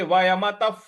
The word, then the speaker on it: वयमतः: तो भविष्यामस्, न चैव न भविष्यामस् सर्वे, अगला पद है सर्वे वयमतः, वयमतः त के बाद जो विसर्ग है उसका उच्चारण हमें फ ले आना है, क्योंकि उसके आगे प लिखा हुआ है।